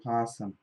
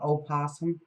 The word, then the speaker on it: opossum: I can't find possum. What's with that, everybody? Oh, because it's the spelling all the time. It's spelled opossum, but...